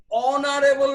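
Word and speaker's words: honorable: অ্যান অনারেবল ম্যান, এইচ এর উচ্চারণ হ হচ্ছে না, অ বা আ হচ্ছে, তাহলে কি হলো?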